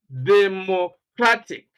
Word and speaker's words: democratic: Now, the first syllable is D, then second syllable plo, and the third syllable ma. The last one, tick, diplomatic. Then you have economic, democratic, mathematic, periodic, right?